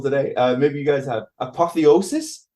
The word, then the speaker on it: apotheosis: Apotheosis? It sounds like a Harry Potter spell. Yeah, you pronounced it properly.